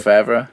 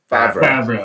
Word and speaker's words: Favreau: name wrong again anyway. John so. Favreau.